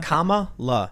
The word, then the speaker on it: Kamala: now we got uh kamala kamala kama la kamala yeah is that it okay yeah she she says she says think of the word comma c-o-m-a-l-a all right so camella